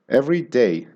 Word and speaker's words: every day: Every day, you pronounce both syllables of the words. Every day. And there's a little bit of a pause in between.